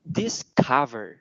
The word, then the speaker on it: discover: cũng chú ý là cái âm này nó là cái âm giống như kiểu cái chữ V nó lộn ngược lại. Thì âm này nó phát âm giống như kiểu là âm Á trong tiếng Việt. Thì từ này sẽ phát âm là discover.